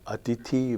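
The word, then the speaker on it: अतिथि: into these three groups so we have atithi bagula pipariya the stress is always on the anti-penultimate syllable that is the third from the right in the second group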